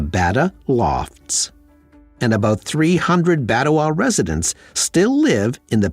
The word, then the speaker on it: Batawa: The new community needed a name, and he suggested combining the word Bata with the last syllable of Ottawa. Why not call it Batawa?